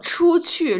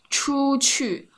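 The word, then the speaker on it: 出去: 我出去吃饭. I find this is very difficult. Like 出 chu have like ch sound, and then they have 去 q sound. 出去出去.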